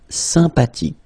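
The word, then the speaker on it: sympathique: Remember the ash h is not pronounced sympatic.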